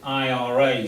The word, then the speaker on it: IRA: This is always pronounced as IRA, so you read out the 3 letters in the name.